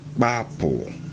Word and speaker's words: kpapu: The first one is bapo, and it is spelled KPAPU. Now the A has a falling stress mark from left to right, and the U has a falling stress mark from left to right with a dot under it.